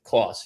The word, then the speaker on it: Clauss: Clauss. Yep. Like Santa Claus.